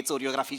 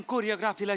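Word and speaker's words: choreography: काय बोलताय चोर असते चोरियोग्राफी शिकवणार मॅडम कोरियोग्राफीला चोरियोग्राफी म्हणतात काय कोरियोग्राफीचा स्पेलिंग सीएच पासन सुरू होतं तर त्यांच म्हण आहे तर ते च आहे च म्हणणार मॅडम इंग्रजीचे नियम पाळत नाही पण मग केमिस्ट्री म्हणायचं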